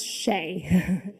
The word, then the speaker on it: Shea: would pronounce it right it's shea just like it's spelled thank you our next